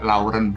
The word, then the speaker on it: Laurent: Nah, jadi beliau cerita ya, namanya Laurent Volk ya. Laurent itu dibacanya lorong ya, Laurent Volk ya, Monsieur Laurent Volk.